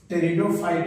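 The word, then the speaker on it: Pteridophyte: और तब टेरिडोफाइट में, पी साइलेंट है, टेरिडोफाइट में, इसमें हम लोग देख रहे हैं कि true root stem leaf, true root stem leaf present पहली बार।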